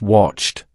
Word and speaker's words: watched: The past tense is watched, pronounced.